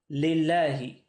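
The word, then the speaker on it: لله: Now, how do I know to read this lillahi? Well, the original word is spelt like this, Allah. Now, what I could do, if I wanted to add a lam, I'd write it like this. But you don't need to do that. Why? Because there's already a lam here. And this lam is silent in the actual word. This lam is a silent lam here.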